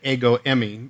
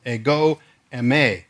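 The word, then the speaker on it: ἐγώ εἰμι: a some people say a go Emmy I think they're putting me as my wife likes to say the emphasis on the wrong syllable because that's the way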